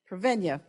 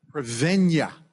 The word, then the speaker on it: Prevennia: pronounce it? Prevennia. Prevennia.